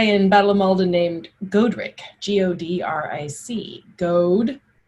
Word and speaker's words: Godric: battle of malden named godric g-o-d-r-i-c goad the god is goad and ric is rich gold rich code rich okay you're starting to